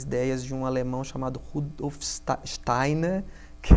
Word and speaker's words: Steiner: Sim, a antroposofia é uma abordagem pedagógica, como eu falei, ela é baseada nas ideias de um alemão chamado Rudolf Steiner, que é a pronúncia certa.